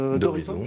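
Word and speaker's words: Dorison: c'est normal c'est Xavier d'horizon je prononce bien d'horizon comme l'horizon voilà vous avez fait le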